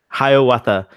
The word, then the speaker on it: Hiawatha: And Hiawatha.